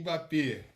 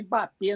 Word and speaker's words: Mbappé: Você fala Miller ou Mbappé, eu vou te falar Mbappé. Eu vou falar. Aliás, né, pessoal, não é Mbappé, não, é Mbappé, tá?